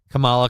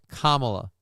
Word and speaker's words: Kamala: fire sales for cookies Camala cost me 2K today or is it Kamala Kamala uh yeah Kamala I keep saying it wrong Kamala Kamala cost you 2K